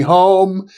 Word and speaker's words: Home: And not to mention D.D. Home and or Hume, I believe is the correct pronunciation, and Minna Crandon in